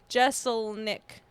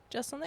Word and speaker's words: Jeselnik: Okay, pronounce his name for real. I don't know. Astley. Jesus. Astley. Oh. Anthony Jeselnik. Jeselnik.